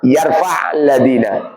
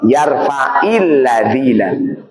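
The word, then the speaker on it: يرفع الذين: Seperti contoh yarfa alladzina, yarfa alladzina membacanya jangan yarfaadzina bukan tapi yarfailladzina.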